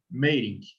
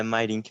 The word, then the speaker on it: Meirink: O Meirink, ou Mairink, né? Eu já vi as duas pronúncias aqui na nossa região. É Mairink mesmo.